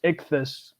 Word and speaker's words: ichthy5: It's pronounced ichthus.